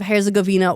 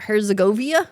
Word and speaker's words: Herzegovina: I've always said it like Herzegovia. Herzegovina. I just missed a whole N right there.